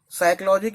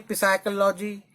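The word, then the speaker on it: psychology: जैसे मैंने बताया पहले, साइकोलॉजी की स्पेलिंग वर्ड की पी से शुरू होती है, लेकिन उसे बोलते ऐसे नहीं, पिसाइकोलॉजी.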